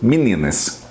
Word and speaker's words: meninas: pega aqui o livro meninas a pronúncia de meninas meninas mas perceba a diferença o que a maioria das pessoas têm feito intensifica na primeira na segunda sílaba quando a palavra tem